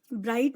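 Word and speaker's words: bright: इसी तरह ब्राइट, ब्राइट में जो जी है, जी का साउंड नहीं आता बट इसमें जी साइलेंट रहता है, तो ब्राइट का क्या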